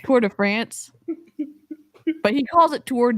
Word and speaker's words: Tour de France: earnings call oh yeah he pronounced it toward a ponce not tour de france that's what you pronounce